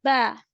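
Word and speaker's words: ب: Ba will be pronounced by the inner wet part of your two lips when it will be going to join. So you have to pronounce ba.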